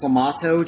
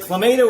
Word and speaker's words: Clamato: Oh, you're saying it's clamato juice? Clamato.